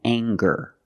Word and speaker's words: anger: And when we have ER after NG, we have NGER, it can be pronounced different ways. Example, danger and anger.